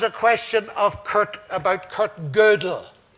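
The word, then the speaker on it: Kurt Gödel: question of Kurt about cut girdle and that's the pronunciation by the way he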